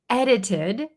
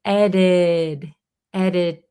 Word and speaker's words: edited: pretty funny sentence because edited when we pronounce it in American native speed English, this T in the middle becomes a flap T.